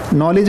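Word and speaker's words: knowledge: हुआ है साइलेंट है जैसे साइकोलॉजी में पी नहीं बोलते ना नॉलेज में के नहीं बोलते कनऊ लग गए ऐसा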